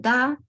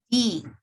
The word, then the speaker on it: the: Ustedes tienen da y tienen di. When do we use each one? ¿Cuándo ocupamos cada una?